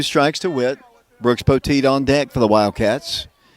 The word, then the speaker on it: Poteet: Poteet.